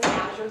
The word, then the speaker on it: Aszure: My name is Aszure, and the easiest way to remember the pronunciation I shared with, I think, Andy out in the hall is think of it as you're walking down the street.